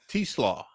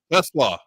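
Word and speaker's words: TeSlaa: keeps standing out is T-Slaw, correct? Am I saying that? Pronouncing it correct? Tesla. Okay, I'm going to get it. I'm going to get it. Yeah, remember coleslaw, but the nickname's coleslaw, so Tesla.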